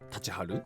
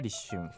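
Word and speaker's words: 立春: « Tachiharu ? » Buzz. La bonne réponse est risshun. Enfin, comment prononce-t-on le caractère « 妖 » de yokai et le caractère « 艶 » ?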